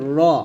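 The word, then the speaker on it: ر: তারপর হচ্ছে এটা হচ্ছে র আমরা অনেকে রা বলি রা বলবেন না র বলবেন র আর এটা হচ্ছে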